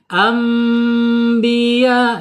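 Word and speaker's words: أنبياء: Ketika ada nun sukun atau tanwin menghadapi huruf ba, maka dibacanya secara hukum iqlab ya. Iqlab baru ada mim di sini. Mim kecil. Ambiya gitu.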